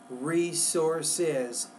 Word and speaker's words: resources: two resources of information you want to say these two resources resources three syllables there these two resources